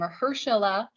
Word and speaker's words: Mahershala: I do know how to pronounce that name, Mahershala, in Marvel's new Blade pick.